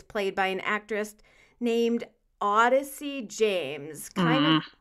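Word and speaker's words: Audyssie: by an actor named odyssey james coming like a mash-up between audrey and odyssey because it's a u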